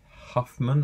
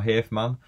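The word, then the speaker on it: Hafemann: Eric, I believe you pronounce it Huffman. I'm going to say Huffman or Hafman.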